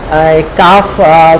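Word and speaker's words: قاف: সর্বশেষ হরফের নাম কি? ফ্যাফ। আমরা বাংলাতে চেষ্টা করেছি উচ্চারণটা বোঝানোর জন্য।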